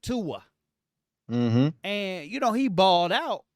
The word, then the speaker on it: Tua: And then they put in Ty Don't even mess it up. Don't even mess it How up. you say it? That That ain't how you say it. They put in Ty, right? Tua.